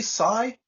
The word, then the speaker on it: Sai: Now, and is it Sai? Am I pronouncing your name correctly? Sai? Yeah, correct.